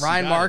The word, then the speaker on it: Ryan Maher: And joining us today, we have Ryan Maher. Yes. Is that how I pronounce it? Yes. Ryan Maher, comedian from, where are you from?